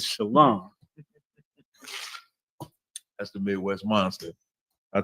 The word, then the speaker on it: shalom: Quick shout out to Captain Quad in the comments said, "Stop that shalom garbage. The correct way to say peace in ancient Hebrew is shalom."